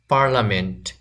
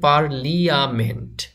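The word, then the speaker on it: parliament: paradise জান্নাত জান্নাত paradise পার্লামেন্ট এখানে লেখা আছে পারলিয়ামেন্ট কিন্তু উচ্চারণ হবে পার্লামেন্ট এখানে আই এর উচ্চারণ এর মত হবে বা এখানে আই যে ক্যারেক্টারটি আছে এই আই ক্যারেক্টারটি উচ্চারণ করা যাবে না পার্লামেন্ট পার্লামেন্ট মিন সংসদ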